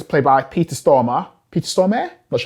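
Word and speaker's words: Peter Stormare: guy in it it's played by peter stormer peter stormer that's how you pronounce his name and you know i've seen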